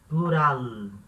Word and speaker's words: plural: escreve igual espanhol uma na hora de falar a gente fala plural da sl não vai ter som de u com português natural não plural humorado e e o plural no no espanhol ele